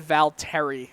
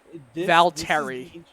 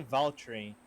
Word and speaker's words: Valtteri: been uh it's been i said val terry very american-like valtteri yeah this is this